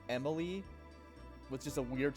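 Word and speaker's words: Emille: Also, I am correctly assuming her name is pronounced Emil, right? It's not like Emily, with just a weird spelling. I'm pretty sure that'd be like a French pronunciation.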